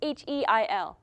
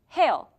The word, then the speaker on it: Heil: In the comics, though, it was originally written H-E-I-L, Heil. And in today's American pronunciation, it would be Hail, even if it was written that way because, you know, Americans don't care about other cultures.